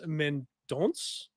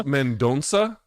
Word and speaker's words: Mendonça: Jesus Aguilar takes on Mateus Mendonça, I think is how you end up pronouncing that. Even though it's spelled I think it's Mendonça.